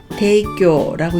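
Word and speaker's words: 提供: 절제할 제자도 세이라고 읽어서 제도를 세이도라고 했고, 끌제만 조금 특수하게 대이라고 읽었습니다. 여기 있는 제가 다 세이라고 읽는데 끌제만 대이라고 읽어서 제공을 대교라고 읽는 점 주의하시고요.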